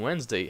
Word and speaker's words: Wednesday: Wednesday see the difference you have two silent letters Wednesday and also these s in Wednesday has a Z sound Wednesday so two same letters